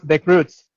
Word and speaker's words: The Croods: No sé si ustedes se acuerdan de una película que se llama los Crocs o los Croods, ¿cómo se pronuncia en inglés? Sergi. Los Croods, The Croods, Eso, que son los unos Croods, cavernícolas.